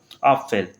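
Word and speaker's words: Apfel: जैसे पी और एफ किसी के बीच में आ रहा है, तो उस कंडीशन में पी की हमको हल्की सी साउंड सुनाई भी देती है। इस वाले में तो बिल्कुल ही साइलेंट हो गया, लेकिन इस वाले में थोड़ा सा हमको सुनाई देगा।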